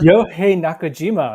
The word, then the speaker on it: Yohei Nakajima: Did I pronounce it right, good sir? Yohei Nakajima.